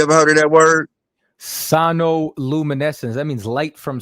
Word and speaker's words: sonoluminescence: I want to make sure I'm pronouncing it right. It's called sinoluminescence. Hold on. Sinoluminescence. Have you ever heard of that word? Sonoluminescence.